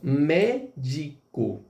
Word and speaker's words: médico: Olha só, médico. E aí, quem é aqui a tônica? Mé.